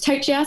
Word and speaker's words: Tochia: last name just so everyone knows how to pronounce it because it's always fun my last name is tochia so i am a female that lives in